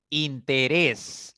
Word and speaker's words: interés: llevar tilde población interés interés es una palabra de tres sílabas es una palabra que termina en consonante s ya y la mayor fuerza está en la primera sílaba contando de derecha izquierda por lo tanto debe llevar tilde interés colibrí colibrí es